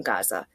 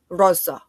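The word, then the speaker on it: غزة: I struggle with I was saying Gaza, the way that the Western people try to like Arabize the word, even though they don't know Arabic, and they say Raza, and the way that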